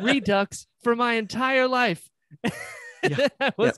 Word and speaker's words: Redux: excited about orbital redo redux redux i like to say redo well because you're because you're pronouncing it correctly brian you should know better than to pronounce it correctly i oh man i